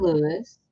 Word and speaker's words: Louis: Is it pronounced Louis or Lewis? Lewis?